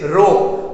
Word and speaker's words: rho: The pronunciation of this sign is this, rho, RHO. We are just pronouncing this sign as rho.